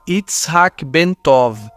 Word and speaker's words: Itzhak Ben-Tov: Seu nome completo se pronunciava Itzhak Ben-Tov, mas para a maioria das pessoas ele era conhecido simplesmente como Ben.